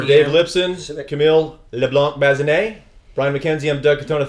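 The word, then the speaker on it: Leblanc-Bazinet: Camille, LeBlanc, Bazinet, Brian Mackenzie, I'm Doug Katona.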